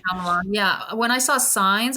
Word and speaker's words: Shyamalan: Shyamalan, yeah.